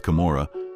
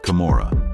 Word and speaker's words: Camorra: the Old Testament and this also rhymes with kamora however according to author